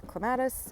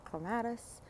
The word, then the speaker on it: clematis: I'm really addicted to clematis. Yes, I'm an American and I say clematis, even though clematis is the proper way to say it.